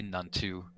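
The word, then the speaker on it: Nuntu: to all of you the name is actually none too n-u-n-t-u thank you it's going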